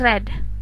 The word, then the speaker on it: read: berubah menjadi past tense tulisannya tetap sama read tapi dibacanya read Kayak misalnya I read a book yesterday ya tapi penulisannya tetap dalam e tulisannya tetap read cuman pronounciation pengucapannya jadi red itu untuk membedakan mana